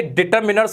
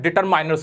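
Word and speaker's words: determiners: पहली बात, ये डिटरमिनर्स होता है, डिटरमाइनर्स नहीं होता। बड़े बड़े टीचर्स, बड़े इंटेलिजेंट स्टूडेंट इसमें गलती करते हैं, इसको डिटरमाइनर्स बोलते हैं, जो कि बिल्कुल गलत होता है। इसका करेक्ट प्रोनाउंसिएशन होता है डिटरमिनर्स। क्या होता है? डिटरमिनर्स, ना के माइनस।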